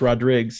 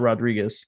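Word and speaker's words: Rodrigues: is you know my last name is pronounced rodriguez it's not rodriguez okay it's you know portuguese wine and so growing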